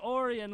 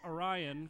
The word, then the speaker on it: Orion: on Ont V we are live in Lake Orion ladies and gentlemen I said it right this time I I always wanted to call it Orion cuz it's about the same but it is